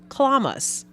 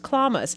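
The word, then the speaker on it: chlamys: for me because it's spelled c-h-l-e-m-y-s but it's pronounced clamas c-h-l-a-m-y-s pronounced clamas and it is a noun and it means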